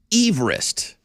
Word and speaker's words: Everest: it's too late foreign the correct pronunciation of Mount Everest is Everest again it's named after Sir George Everest a Survivor or a surveyor from Wales and that's how his last name was pronounced I'm not changing me